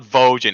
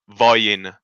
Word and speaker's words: Vojin: Please, I beg you, God's fucking name, stop saying Vojin. Stop saying fucking Vojin. It's not Vojin, it's Voyin.